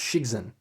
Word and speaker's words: Cixin: I think it's pronounced Cixin.